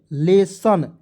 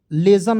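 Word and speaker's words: lesson: दोस्तों यहां आप देखिए एल E double S आई ओ एन लेसन लेजन नहीं पढ़ेंगे लेसन पढ़ेंगे बहुत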